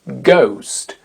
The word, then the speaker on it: ghost: on en parle aujourd'hui Ghost Ghost G H O S t Ghost le H ne s'entend pas une consonne très connue